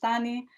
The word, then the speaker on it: Tani: So I'm Tani, pronounced Tani.